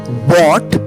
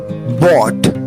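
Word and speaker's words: bought: light landing खरीदना बाय बट बट बी ओ यू जी एच टी जी एच को silent कर दे पढ़े बट fourth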